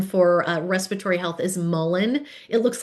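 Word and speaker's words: mullein: herb that's known for uh respiratory health is mullen. It looks like malay it's pronounced mullen.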